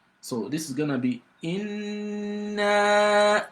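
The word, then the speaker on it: إِنَّا: For you to be able to pronounce the noon mushaddada very well, you've got to assume you're pronouncing one silent noon and another noon with fatha. And so then the noon gets elongated for up to 5 seconds.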